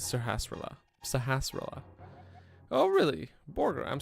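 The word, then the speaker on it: Sahasrahla: From now on, I will not pronounce his name correctly. But it is Sahasrara.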